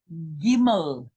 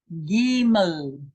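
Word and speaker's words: גימל: Number 3, our third letter is Gimel. Gimel.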